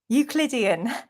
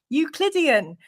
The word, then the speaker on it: Euclidean: before Loki Daniel Allington Euclid Ian euclidean euclidean hahaha Daniel that's genius you helped me learn how to pronounce it through the chat I thought that was something rude about Arbor to Ian I'll buy to Ian euclidean euclidean I'm gonna say the whole sentence again non-euclidean geometry in this adventure yes